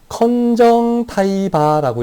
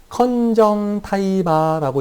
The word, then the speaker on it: conjunctiva: 컨정타이바라고 읽어요. 내가 좀 막 써서 미안해요. CONJUNCTIVA. 컨정타이바라고 읽고요.